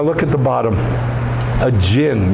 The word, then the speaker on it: jinn: A jinn. You ever heard genie? I dream of genie? It's a really bad pronunciation of an Arabic word.